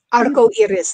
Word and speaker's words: arco iris: Arco iris.